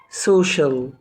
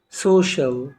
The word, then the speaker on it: social: بتاعنا مقطع مهم جدا وقلنا ما بينطقش السي لوحدها طبعا السي اي والسي اي اي والسي اي او مع بعض بتنطق شين يا رب يكون الفيديو